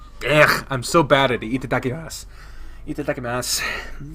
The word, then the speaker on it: Itadakimasu: Itadakimasu. Itadakimasu. You don't do su. That's not how they say it.